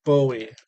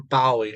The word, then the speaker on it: Bowie: But I do love me some Bowie or Bowie, however you want to pronounce it.